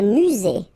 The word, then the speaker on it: musée: Un musée. Final not pronounced.